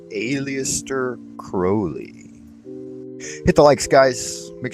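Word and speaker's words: Aleister Crowley: Conformity to one's will according to Old Alias crowy that's how he pronounced his name in the modern parlaments they call him alist Crowley M crowy but that's not what he called himself he called himself Alias crowy hit the likes guys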